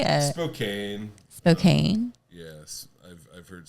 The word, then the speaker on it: Spokane: Spokan. How'd you say it before you moved here? I didn't. Okay. What do you mean, dude? The Spokane. How do people say it? Spokane.